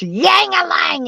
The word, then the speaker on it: Jangalang: But I You was know, telling Jangalang earlier how when I was first talking with Greenfing, she would go irate on me because she said his name is pronounced Yangalang, and she'd scream, like